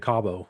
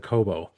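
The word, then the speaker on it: Cobo: I think I said Cabo cuz I was listening to Sammy Hagar earlier and I ended up saying Cabo instead of Coobo.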